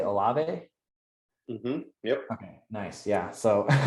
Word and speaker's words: Olave: I want to say Olave.